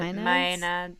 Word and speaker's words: maenads: how you say that I pronounce it may nads but mayad yeah it's mayad mayad who are worshipers of